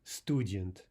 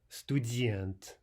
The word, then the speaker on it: студент: If we misplace the stress, this would read student, student. But what we want is студент.